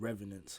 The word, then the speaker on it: Revenants: And my bad, by the way, I I said it wrong. They're not called Remnants. They're called Revenants.